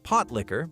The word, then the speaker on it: pot liquor: Pot liquor, pronounced potlicker by true southerners, wasn't simply about survival and simplicity.